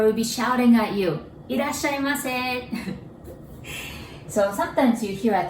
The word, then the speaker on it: Irasshaimase: Irashai or Irasshaimase.